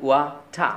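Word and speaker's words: water: তাহলে আপনি আজকে থেকে পানির ইংরেজি বলবেন ওয়াটা, ওয়াটা।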